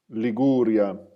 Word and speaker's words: Liguria: Liguria.